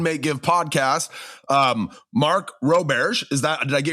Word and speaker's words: Roberge: It's funny because my grandmother's pronounced it Roberge, but I grew up in hardcore Central Mass, driving north on 495, and went to undergrad with a heavy Boston accent, and everyone thought my name was Mike Roberge. And so I just kept it. So, that's how I pronounce it.